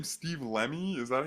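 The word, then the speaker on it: Lemme: it but like is this guy's name Steve lemy is that how you pronounce that yeah he we we talked about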